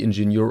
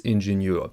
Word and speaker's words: Ingenieur: good time for this Ingenieur. By the way, Ingenieur means engineer, same spelling in French and German, so I will choose the German pronunciation for this video.